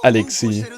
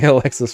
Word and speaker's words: Alexis: It's French. That's why it has an S. It's, if you want to get technical, it's pronounced Alexis, so. Although most people have called me Alexis for most of my life.